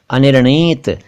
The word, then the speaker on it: अनिर्णीत: अगला शब्द है अनिर्णीत। अनिर्णीत ऐसा शब्द है जिसका उच्चारण कई लोग नहीं कर पाते हैं, तो थोड़ा सा आराम से बोलेंगे तो हो जाएगा। ये निर्णय से बना है, निर्णय।